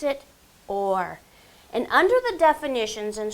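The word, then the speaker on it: אור: w r and when we transliterate it we pronounce it or and under the definitions and strong dictionary there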